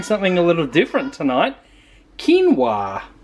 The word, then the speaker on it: quinoa: a little different tonight quinoa which is absolutely not how I would have pronounced that if Adele didn't already pronounce it so we've got quinoa obviously some garlic powder